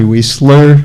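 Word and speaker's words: Wiesler: My name is Wesler and that's spelled W I E S as in Sam L E R.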